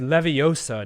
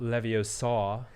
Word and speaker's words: Leviosa: so good at it it's leviosa not leviosa and if you knew